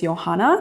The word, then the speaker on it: Johanna: The correct pronunciation is Johanna, but I also go by Johanna or. It's German. The J is pronounced like a Y.